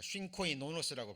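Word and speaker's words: συγκοινωνός: 자, 쉰코이노노스라고 발음이 됩니다.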